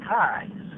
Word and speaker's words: Kai: children remember my children my name is kai it rhymes with your eyes and then we would